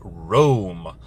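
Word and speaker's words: Roam: Now, there was something in the lore talking about a city full of awakened animals known as Rome. That is spelled R-O-A-M.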